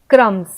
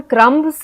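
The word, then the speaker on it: crumbs: फिर B silent है। क्रम्स तो क्रम्स हम लिखते हैं। लेकिन बी को हम उच्चारण में नहीं लेते। हम सिर्फ बोलते हैं क्रम्स। सी आर यू एम एस। यह हम बोलते हैं क्रम्स। लेकिन लिखते हैं बी भी बीच में। यानी हम क्रमबस नहीं बोलते।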